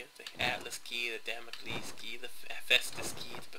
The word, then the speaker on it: Damocles: See, you have the Atlas key, the Damocles key, the Hephaestus key, the Poseidon key. And I know people are pronouncing it as Democles.